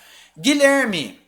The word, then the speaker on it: Guilherme: meu nome não porque a pronúncia não é guilher eu não pronuncio U esse U é diacrítico ele é um ío com g g g g depois eu vou pro I direto eu não falo Guilherme